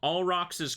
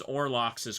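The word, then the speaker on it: Olrox: How many of you have been reading it as Orlocks's quarters? Cuz I did that for like so long without realizing I was saying it wrong. It's O R O X, not Orlocks.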